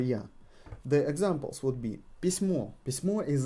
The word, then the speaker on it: письмо: Письма. Письма. Письмо. Письма. We got a floating emphasis here.